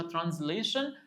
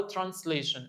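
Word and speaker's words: translation: عندي ترانسليشن اللي هي الترجمه، والاس ديت ممكن تتنطق اس وممكن تتنطق زد، فممكن نقولها ترانسليشن او ترانسليشن، الاثنين صح طبعا.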